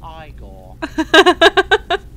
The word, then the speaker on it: Igor: why isn't it from Constantine you must be Igor now it's pronounced Igor but told me my grandfather used to work